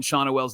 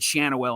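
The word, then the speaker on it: Schanuel: And then there's some stupid video that couldn't pronounce Nolan Shawnoel's name right. He said Shannowell, and I turned the video off.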